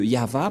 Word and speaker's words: Yahvah: et va V voilà le nom de yava prononcé par le grandpère Moché yava donc voilà nous avons